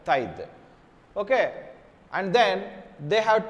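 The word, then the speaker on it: taille: named okay so pronunciation A lot of people tend to pronounce like today no that's a Thai okay and then they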